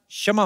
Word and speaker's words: क्षमा: मैं कशमा चाहेगा. कशमा नहीं, क्षमा होता है.